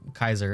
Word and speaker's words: Caesar: Julius Caesar Zapelli, or Kaiser as it's actually pronounced.